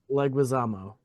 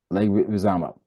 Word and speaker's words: Leguizamo: You were talking about, and I always get his name wrong. Can never say his last name, but John Leguizamo. Leguizamo. Leguizamo.